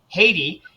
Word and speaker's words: Heidi: because you're from Norway your name looks like Heidi but it's actually pronounced Haiti took me a couple months to remember that I remember when we first met I know it is the Norwegian pronunciation but now that I'm